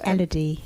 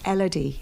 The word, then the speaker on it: Elodie: She's a beautiful name, and I'm not quite sure how to pronounce it. Elodie. Elodie.